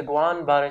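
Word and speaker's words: Guillain-Barré: احنا نقول جوالين للكتابه، هي شنو؟ هي جوان باري سايندروم، تمام؟ لانه الدبل ال ما تلفظ.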